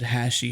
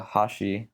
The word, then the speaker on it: Hashi: the intro I said hashy hashy which one is it well if you're speaking Japanese it's uh Hashi but if I mean either way is really fine it's it's phonetically fine to me phally fine okay I